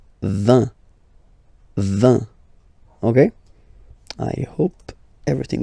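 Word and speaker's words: vingt: And the last one, so this G letter is here, but you don't pronounce it.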